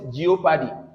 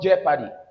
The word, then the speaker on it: jeopardy: And the second word here many people call it geop whereas it is called jeopardy.